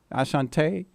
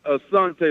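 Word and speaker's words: Asante: it asan asant Tre Ashante yeah how do you say your name it's a Sante like the tribe the tribe of Sante by your roots yo big up man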